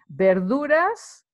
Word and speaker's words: verduras: with mentioned it before bear Laura's verduras remember the V is not pronounced V in Spanish is B sound bear Laura's it's vegetables